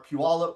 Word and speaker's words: Puyallup: But with that, Eric is in our Puyallup branch, which I've learned how to say properly.